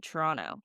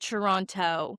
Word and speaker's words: Toronto: You can tell I'm from Canada from the way I said Toronto. You don't pronounce it Toronto. The T at the end is silent, really. It pronounces an N.